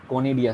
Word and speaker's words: conidia: आपने सेकंड पे नाम लिखा उसका सर एक बार प्रोनाउंसिएशन बता दीजिए। कोनिडिया, CONIDIA, okay sir.